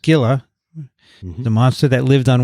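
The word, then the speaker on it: Scylla: links in greek mythology cilla actually pronounced skilla the monster that lived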